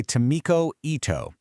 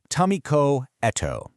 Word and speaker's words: Tamiko Eto: This three-stage framework was developed by Tamikoto, and that's pronounced Tamiko Eto.